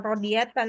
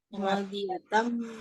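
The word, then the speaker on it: راضية: Itu tadi ada kelewat itu sama Umi, bukan Rodiatan tadi bacanya. Radiyatan mardiyah.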